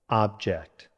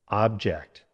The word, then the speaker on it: object: Object. Now you say it. Good. Try this sentence. Please remove any sharp objects from your bag. Now the verb. Stress on the second syllable, object.